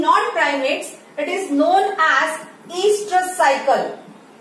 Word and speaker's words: oestrus: That cyclical change in non-primates, it is known as estrus cycle. Estrus, where O is silent, so that is known as estrus cycle, while in primates we will say it as menstrual cycle.